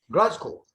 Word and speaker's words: Glasgow: A pronúncia é essa mesmo, da cidade escocesa lá? Glasgow. Glasgow.